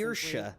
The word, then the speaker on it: Saoirse: Saoirse. That's how you pronounce That should do that.